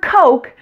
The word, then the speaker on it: coke: and that's the oval the word coke uses a long Oh sound and uses a short